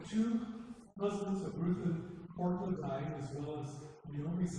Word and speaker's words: Orpah: Because so many people pronounce it Oprah, she just went with that for the rest of her life.